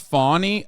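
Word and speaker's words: Fani: right now one is it's pronounced fawny okay whatever I don't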